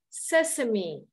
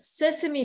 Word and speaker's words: sesame: also another word that you're gonna see is Sesame okay it's Sesame Street in Sister instead of say same okay it's spelled as s-e-s-a-m-e okay okay uh when you